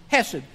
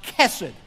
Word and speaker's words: chesed: It looks like in English the word hesed, H-E-S-E-D. Chesed. I think appropriately is pronounced Chesed, okay?